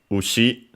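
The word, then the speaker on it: うし: As for its pronunciations, we have ushi, the strictly Japanese one, unaccented, which means cattle, cow, bull, ox, calf.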